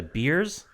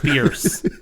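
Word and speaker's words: Bearse: I think I said Amanda Beers. Idiot. Bierce.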